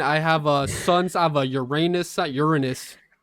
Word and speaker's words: Uranus: Uranus. I think it's actually pronounced Uranus. Learned this a couple of days ago. I thought it was Uranus, but that would be a little up my ass, I guess.